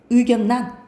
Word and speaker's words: 의견란: 예를 들어서 의견, 란이 있으면 이걸 의견란이라고 발음 안 해요. 의견란 이렇게 발음해.